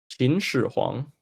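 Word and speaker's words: 秦始皇: This was mostly a joke, but how do you pronounce first emperor's name in Chinese? Qin Shi Huang.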